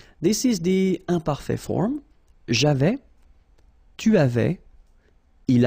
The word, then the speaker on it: avais: J'avais, final S not pronounced.